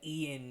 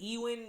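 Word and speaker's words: Ewan: ewen mcgregor i always i always say his first name wrong i think i said ian mcgregor yesterday but ewin mcgregor just to see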